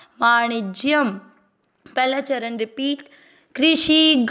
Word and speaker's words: वाणिज्यम: गौरक्ष्य वाणी और इसके बाद में ज आधा य पूरी के साथ ज्य वाणिज्य। शब्द पुराने के बाद य पे अनुस्वार आधा म वाणिज्यम। पहला चरण रिपीट। कृषि गौरक्ष्य वाणिज्यम।